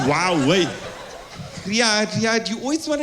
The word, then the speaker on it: Huawei: hu my Hua yeah that's how you pronounce it yeah I didn't know you pronounce it w way yeah I know you spell it h but you pronounce it wow way Riad Riad you always